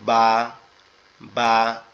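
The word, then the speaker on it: ب: তো এই নিচে এক নোক্তা, তার নাম হচ্ছে বা। বা, বাটা হচ্ছে আমাদের দুই ঠোঁট থেকে উচ্চারিত হবে, বা, বা।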